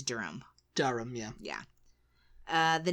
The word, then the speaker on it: Durham: though Durham Durham Durham Durham uh but it's darum darham yeah yeah uh the next one is